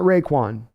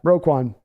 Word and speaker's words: Roquan: injuries suck David view roquan Smith my man not Raekwon oh my bad roquan my bad David the